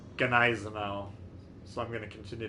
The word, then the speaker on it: Gneisenau: But I asked the German guys on our community contributor Discord, and they said it's pronounced Gneisenau.